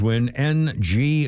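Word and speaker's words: Dustin Nguyen: includes Dustin Wyn and Wyn is the Vietnamese Win Nu Yen. No winin Nagoyans how it's spelled. It's pronounced win in Vietnamese.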